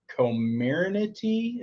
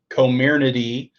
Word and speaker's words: Comirnaty: Sherry Steckler, you said in here, and I think it's Comirnaty is how you pronounce it, or something like that.